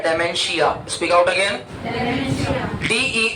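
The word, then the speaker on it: dementia: एन टी I Dacia इसमें टी को silent वड केडिंग बोला जाता है तो प्रॉपर वर्ड हो जाएगा Dacia D एम ई एन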